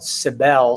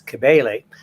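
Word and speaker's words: Cybele: of is sometimes she's sometimes called sibel c-y-b-e-l-e Greek pronunciation is kebale and she was the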